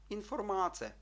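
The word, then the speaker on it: informace: з чотирьох складів інформація то всі слова або всі склади треба читати однаково не редукуючи не стискаючи голосні інформаце рівненько чудово переходимо до такого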